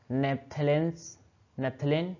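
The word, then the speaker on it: naphthalene: उसके बाद नेक्स्ट हमारा कंपाउंड क्या है, इसको देखो नेप्थलेन क्या है, नेप्थालीन या फिर नेप्थलेन, कुछ भी नेप्थालीन बोलो या फिर नेप्थलेन, प्रोनाउंसिएशन में कोई वैसा नहीं है।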